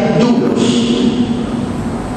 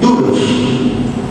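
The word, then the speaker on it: δοῦλος: en el original es doulos pongan ahí el costadito dlos con d de dedo se pronuncia dulos está bien dulos la palabra dlos que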